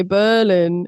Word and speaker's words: Berlin: it be hotel and Berlin?